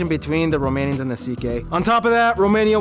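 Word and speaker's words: Székely: then we get to the CK people the second most populous minority yes that's how you pronounce it CK basically cousins of the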